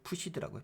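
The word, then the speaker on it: FTSE: 그 영국의 fts 있잖아요 이게 발음이 푸시라고 푸시 푸쉬 원 여기 있죠 바 푸시네 푸시라고 이야기할게요 그리고 이탈리아 mi 주수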